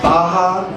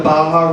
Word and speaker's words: Baja: And I heard through the speaker back, like, you do know it's pronounced Baja, as in the Baja region south of California?